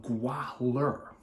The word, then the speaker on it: Gwahlur: The Jewels of Gwahlur. See, I keep switching fangs and jewels back and forth too. And you notice how I pronounce the H in there between Gwa and Lur.